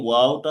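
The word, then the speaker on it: واو: দুই ঠোঁট গোল করতে দুটো হবে, গোল করে। মাঝখানে একটু ফাঁকা রাখতে হবে, এই যে খেয়াল করতে হবে। ওয়াও। ওয়াও। হুম ওয়াও। ওয়াও।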